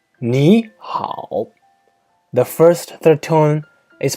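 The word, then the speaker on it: 你好: plus another third turn the first third tone is pronounced as a second tone for example me how means hello it sounds like me how the first two tone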